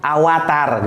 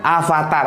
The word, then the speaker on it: Awatara: menjadi tenang water tuh apa itu Bahasa Sansekerta Harusnya kita bilang Awatara seperti kalau mereka akan Avatar hardjalukita Awatara kalau mereka